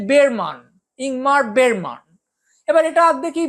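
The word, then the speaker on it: Bergman: আছেন তার নাম ইনমার্ক বার্গম্যান সারা পৃথিবী তাকে বার্গম্যান বলছে আমরা যদি তার সম্পর্কে তথ্যচিত্র দেখি তাহলে হয়তো বুঝবো যে তার পদবীর উচ্চারণ আসলে বেরমান ইংমার বের এবার এটা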